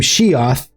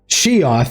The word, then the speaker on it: SHIATH: But um I'm being joined here by the creator of the game Sheth and I'm pronouncing that right? Right. Yep. She yep. Yep. I'm Sheth.